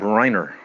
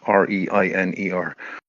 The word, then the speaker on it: Reiner: case here of um the murder of Rob Reiner. I presume I think I'm I'm pronouncing that right. R E I N E R.